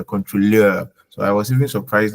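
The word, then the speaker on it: Kontrolleur: I didn't say controller because controller is from French. So in German, EU is oil. Okay. If a German was to like if we were to use the actual pronunciation, then it would have been controller. Yeah, but then because it's borrowed from French, that's why contrôleur.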